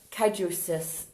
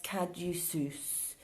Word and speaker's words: caduceus: The wings of the caduceus, how do you say that word? S-U-E-C-U-D-A-C, sus-ud-ak, caduceus, caduceus.